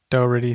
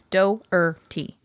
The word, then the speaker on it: Doherty: You're saying it like Doherty, and I think it's like act like there's an Doherty? H there, but then take away the huh. So I think it's just like Doherty.